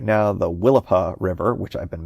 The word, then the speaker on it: Willapa: It's right on the, banks of I gotta say it right now, the Willapa River, which I've been mispronouncing for my entire life.